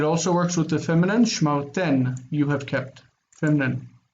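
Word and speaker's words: שְׁמַרְתֶּן: Shmar ten, you have kept.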